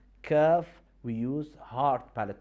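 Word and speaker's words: كاف: Letter kaf is exactly, we use the root of our tongue, but now instead of using the soft palate, we use the hard palate.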